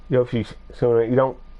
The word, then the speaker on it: Yoshitsuna: Does kind of have the S word in there, but it's Yoshitsuna. You don't actually say that S word that's in there, and that's because the T is silent.